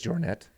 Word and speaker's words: Jornet: He says it all like sounds French, even though he's from Spain. So he says Jornet. Killian Jornet. like croissant.